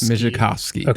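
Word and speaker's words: Migicovsky: I'm going to do you know how to pronounce his last name mski no I'm going to try yeah M mikowski mikov mikowski thank you so he created a new company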